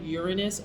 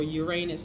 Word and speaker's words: Uranus: We have Saturn, Uranus, or Uranus, however you want to pronounce it.